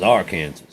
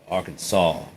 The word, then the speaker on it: Arkansas: This is Arkansas. It's Arkansas. We didn't misspell it. You're stupid. Shut up. It's Arkansas.